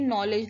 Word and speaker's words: knowledge: इसी तरह यहाँ भी नेक्स्ट वर्ड में भी के साइलेंट है. क्या पढ़ेंगे हम इसको? नॉलेज. क्या पढ़ेंगे हम? के साइलेंट है तो क्या हम इसको पढ़ेंगे? नॉलेज.